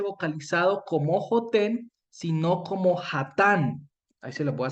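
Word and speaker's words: חָתָן: Pero resulta que Hatán se escribe de la misma manera, con las mismas vocales, ve, con las mismas consonantes. Lo único que cambia son las vocales y la pronunciación.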